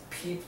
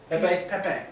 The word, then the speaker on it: Pepe: Pepe. Sorry. Peep? It's spelled like meme. I don't know why. Well, No, I know it's French. Pepe the Frog. Well, is- also, Peep would be P-E-E-P, like the candy.